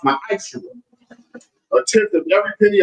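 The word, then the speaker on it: ma'aser: Malachi 3:8-10 means tenth in the Hebrew and it's pronounced my eyes.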